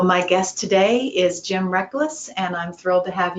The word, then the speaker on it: Reklis: First of all, that last name is correct. It's Reklis. Reklis. It's not quite spelled the same way that it sounds, but it's been a